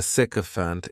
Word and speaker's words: sycophant: The next noun is sycophant. And this noun has 3 syllables, and the stress is on that first syllable.